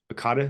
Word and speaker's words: Akata: gonna be going through your your project uh AATA is that how you say it aada yep yep okay um and that's you would